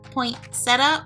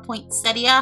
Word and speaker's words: poinsettia: smell good so we're gonna go to pink poinsetta or poinsettia however you want to pronounce it now in my culture yes we